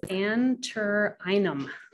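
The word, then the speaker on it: Antirrhinum: And I learned the Latin pronunciation is anterinum, which I've been saying wrong for many years, but I thought I'd look it up.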